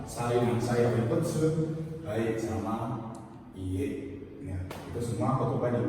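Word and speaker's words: いいえ: Terus ada iye, ya, panjang, i-nya 2, bukan ye, tapi iye.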